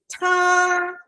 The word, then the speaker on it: 他: Remember, the highest point is 他. So 知道他 stay high.